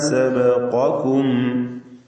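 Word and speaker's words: سَبَقَكُمْ: ലതഅ്തൂന അല്ല, മറിച്ച് ലതഅ്തൂനൽ ഫാഹിഷത മാ സബഖകും. സബഖ, ഖാഫിന് തഫ്ഖീം കൊടുക്കുക, പൂർണ്ണമായ തഫ്ഖീം കൊടുത്ത് സ്വരഭാരത്തോടെ ഉച്ചരിക്കുക. മാ സബഖകും ബിഹ, സാക്കിനത മീം ശേഷം ബ. ഇവിടെ ഇഖ്ഫാ ശഫവി എന്നതാണ് നിയമം. മീമിനെ അവ്യക്തമാക്കി മണിച്ചുകൊണ്ട് ഉച്ചരിക്കുക. മാ സബഖകും ബിഹ മിൻ അഹദിൻ.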